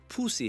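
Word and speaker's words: Phou Si: We finished our night overlooking Luang Prabang on the perfect spot before our cockfight, Pussy Hill. I'm not making that up. That's how it's pronounced.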